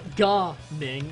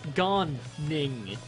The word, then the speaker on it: Gan Ning: Because there's a notable pause between the ends. Reinforcements are headed this way. Because it's not Ga Ning, it's Gan Ning.